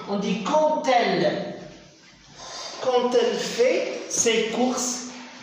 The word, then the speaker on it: quand elle: Mais on ne dit pas, faites attention, on ne dit pas quand elle. Le D ici va se prononcer T. On dit quand elle.